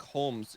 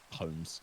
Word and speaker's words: Holmes: silent yeah so it's it's a weird English English name with a bizarre silent L but yeah so that's why it's just shirock Humes because it's basically identical to Holmes sherock Holmes uh and